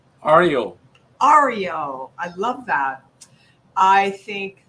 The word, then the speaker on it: Aryo: name so tell me that how do i pronounce your name ariel ario i love that i think that your gift